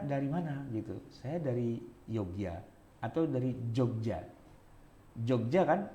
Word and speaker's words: Yogya: Itu Jogja itu pakai Y apa pakai J sih? Eee kalau misalnya saya kereta naik kereta nih, di stasiun Jogja itu pakai Y. Yogyakarta. Yogya ya, bukan Jogja. Tapi orang Jogja itu menyebut saking pundi, Mas? Kulo saking Jogja. Saking Yogya, kalau bahasa ngokonnya. Tapi eee tapi mereka bilang Jogja, gitu kan. Ke Jogja, bukan ke Yogya.